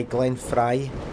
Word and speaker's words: Glenn Frey: I just said The Heat Is On by Glenn Frey.